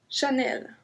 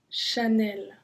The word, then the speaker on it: Chanel: low not sense in Lauren no Eva blue Chanel Chanel Chanel the crocodile Lacoste we Vito Vito I heard